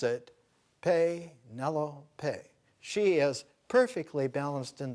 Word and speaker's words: Penelope: And the way to pronounce it, Penelope.